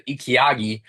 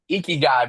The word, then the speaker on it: Ikigai: Like it literally, like I cannot pronounce it right still. The Ikiagi, right? What you're Icky good guy. at, Ikigai, bro.